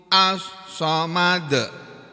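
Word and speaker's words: الصمد: menterjemahkannya Allahu Allah itu assomad asal madu Hai tulisannya asam maju membacanya as-somad gitu ya tempat tujuan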